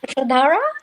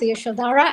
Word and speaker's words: Yashodhara: Yashodhara. That's easier to pronounce, Yashodhara, and you can call me Yash.